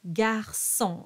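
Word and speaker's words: garçon: and here you have Garson and there's a little cedilla under the sea which means it's a soft C pronounced like an S Gar so so you'll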